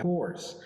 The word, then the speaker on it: course: curso y eso sería course. Y aquí la bronca es la pronunciación. En primera tenemos dos spellings diferentes. Curse, course. Estos son difíciles, pero noten. Curse es más bien curse. Course es más redondo.